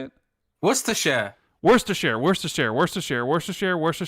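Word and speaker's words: Worcestershire: how do you say it wor a share worst a share worst a share worst a share worst a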